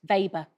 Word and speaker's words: Weber: to be W, but it's going to be pronounced V, isn't it? Do you I want me to don't know enough about magnetic flux. Weber.